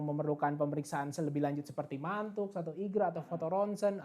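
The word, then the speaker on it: Mantoux: pemeriksaan selebih lanjut seperti mantuk satu Eiger atau foto rontgen atau bahkan cek dahak itu juga nanti bakal dianjurkan ya Dok ya ngantuk tuh bacanya mantu ya bukan mantu Mantup ya mantu mantu dokter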